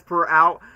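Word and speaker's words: Prower: did not understand by saying oh miles tales per hour miles Tales PR hour is supposed to be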